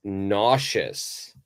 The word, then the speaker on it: nauseous: And if we look at the last example sentence, it says, she gets nauseous when she's on ships.